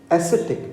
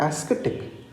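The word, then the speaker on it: ascetic: इसको हम कहेंगे एसेटिक, नॉट एस्केटिक, इट इज़ एसेटिक।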